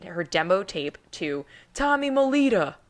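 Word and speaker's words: Mottola: demo tape to Tommy Molita I feel like I have to say it like that I mean you can say mol but I'm pretty sure he went by Tommy Molita the head of Columbia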